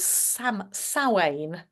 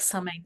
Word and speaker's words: Samhain: And interestingly, the Celts started the year with Samhain, looks like Samhain, pronounced Samhain, which is also overlaid by Halloween.